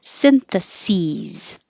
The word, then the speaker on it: syntheses: analysis with the sis if it's the plural it's going to be s-e-s syntheses the same as plural analyzes synthesis singular syntheses plural